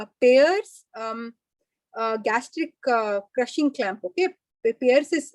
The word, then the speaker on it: Payr: Okay, Pearce is spelled PAYR.